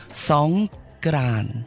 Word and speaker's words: Songkran: Right, it's actually called Songkran. Songkran. Yeah, it's a G, not a K.